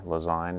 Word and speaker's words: Lezyne: nice job with design maybe that's why lazyne rhymes with design never thought of that